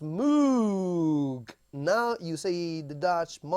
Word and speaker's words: Moog: that up sure but mark said it was pronounced mug though his name should be pronounced Moog now you see the